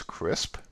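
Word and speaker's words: CRSP: here and this is commonly referred to by its acronym pronounced as crisp and that focuses on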